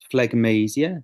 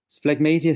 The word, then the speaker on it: phlegmasia: Phlegmasia cerulea dolens.